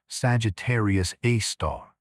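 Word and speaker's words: Sagittarius A*: At the heart of the Milky Way, about 26,000 lighty years from Earth, lies a super massive black hole called Sagittarius A, pronounced Sagittarius A star.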